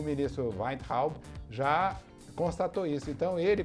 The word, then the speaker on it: Weintraub: E o ministro Weintraub já constatou isso. Então ele... A pronúncia dele como é?